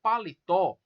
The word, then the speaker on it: paletó: paletó vocês observam que a sílaba tônica da palavra paletó é o te o é a última sílaba é uma palavra oxítona